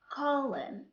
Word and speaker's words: column: When N comes after letter M at the end of a word, N here is silent.